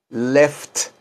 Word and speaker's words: left: repitan repitan ustedes left pronuncian bien toda la palabra left vean que es una F con una t left left left que es también así